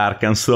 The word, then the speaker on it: Arkansas: re che si iscrivano e kansas ma si pronuncia arkan su ok e ha difficoltà